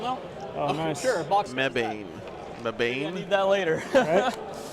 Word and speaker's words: Mebane: It's pronounced Mebane.